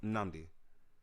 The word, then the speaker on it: Namdi: No, but like the N actually technically is held in a way. My name is pronounced Namdi, Yeah. and it sounds like I'm only saying one N, but that's because you just start by going and then say Namdi.